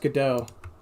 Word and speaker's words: Godot: Also, I'm pretty sure it's pronounced Godot.